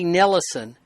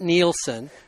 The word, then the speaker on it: Nellison: So it's Eli Nellison, not Nielsen.